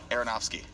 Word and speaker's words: Aronofsky: Darren I went to one Aronofsky.